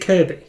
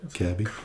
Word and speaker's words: Kirkby: So, it's spelled Kirkby but pronounced Kirby.